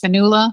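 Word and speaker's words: Fionnula: this guest star is i'm assuming her first name is pronounced fanula flanagan but i could be wrong she just commands every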